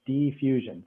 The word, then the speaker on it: defusion: what diffusion is uh it sounds like the word diffusion like something that's diffuse and sort of spreads through something this is a different word it's d e fusion d fusion so like something being